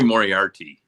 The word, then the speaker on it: Moriarty: for this position you mary mo mority is that how you say her name right i think it's mary moriarty yes moriarty yeah and todd jude